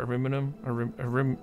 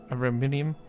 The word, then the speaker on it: Ariminum: I try to call it Ariminum, Ariminium, but there's no I after that. I'm trying to call it Ariminum, but you've probably heard me mispronounce it as well.